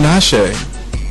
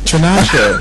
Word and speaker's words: Tinashe: I've been following Tinashe too. I like her. T1. Who's that? That's Ain't this Tanisha? Or it's something? Tinashe. Trina Shay? Tinashe.